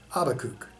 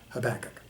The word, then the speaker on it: Habakkuk: to pronounce the name habakkuk see if you're if you're in jewish context that's how you would say it in most christian contexts this habakkuk it is all simply